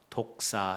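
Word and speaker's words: δόξα: 영광 이라는 단어가 요 헬라어로 어떻게 불린 하며 독사 이렇게 불러요 에 독사 뱀 무리가 독사 라고 부르지요 발음이 헬라 원어로 영광이 마르 려 우리가 생각하는 우리 한국으로 뱀 징그러운 뱀이 작아요 이 독사 발음이 같아요 그래서 우리가 가끔 그런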